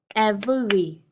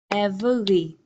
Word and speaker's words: every: Again, this could have three syllables. Every. Every. But my reduced pronunciation, I say every, every, everyone, everybody, everything.